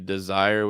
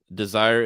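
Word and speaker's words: DSIRE: carolina state university has the desire which is spelled d-s-i-r-e desire is a great resource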